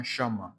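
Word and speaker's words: Shammah: À la première position, on a Shama qui est obéir. Qui est obéir. Sha Shama qui s'écrit S H A M M A H.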